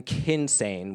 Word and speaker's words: kynsegin: male, kvenkyns, and then kynsegin, which is non-binary. And if you notice, it rhymes with hinsegin, and hinsegin means other.